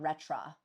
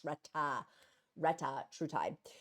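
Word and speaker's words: retatrutide: forgive me for mispronouncing it's not retra it's Reta Reta true tide they were saying in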